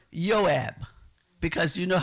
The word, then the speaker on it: Joab: We have another person who is um Joab, but it's not pronounced, you know, I had to check my pronunciation. So, it's Yoab because you know how the J looks like in Wanita.